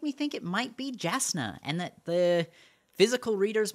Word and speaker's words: Jasna: it has said that it is pronounced with the Y sound so it is yasna but I do think